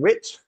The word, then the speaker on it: writs: seen special officers filing writs, rhymes with wit.